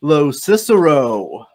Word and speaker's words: Locicero: Please welcome Craig Locicero.